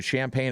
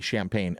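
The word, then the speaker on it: Champaign: Oregon making their first trip to the lovely Champagne, Illinois. Not spelled like regular Champagne, but with an I.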